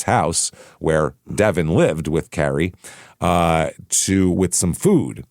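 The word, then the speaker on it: Keary: It's I want to say Kiri because that's how it's spelled, but it's pronounced Carrie. It's K E or K E A R Y. That's Carrie. E A looks like Kiri, but it's Carrie.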